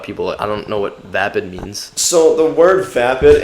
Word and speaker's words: VapidSoul: of said words but at least you guys pronounced it right being vapid because people have pronounced it vapid before and yeah pretty much any sort of other pronunciation I've heard like even the guy that announced us last night in Harvard he pronounced it vape and soul and like he's the